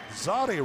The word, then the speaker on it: Zadi: Zadi rhymes with Lottie.